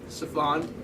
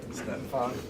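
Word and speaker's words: Stefon: Stefan. Stephon. It'd be an eye if it was Stephen.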